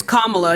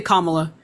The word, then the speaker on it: Kamala: right so you literally it's Kamala you can say her name right it's either you say that you just call her the N word okay no you say commala going out of your